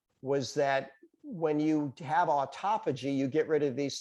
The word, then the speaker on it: autophagy: so this researcher started studying a process called autophagy that's how you pronounce that word and they found out that